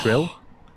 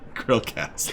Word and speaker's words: CHRILLCAST: Oh, Trill? Krill. Like Krill. A hard C. CHRILLCAST.